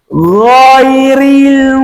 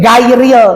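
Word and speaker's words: غير: Paling banyak salah menyebutkan ghin di surat Al-Fatihah, ghairil maghdubi. Hati-hati ya, jangan berdalil gini gairil. Dari mana gairil? Baca Latin itu tuh ya.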